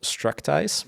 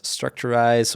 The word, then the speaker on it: Structize: Like a lot of our customers pronounce it as Structurize or something like that.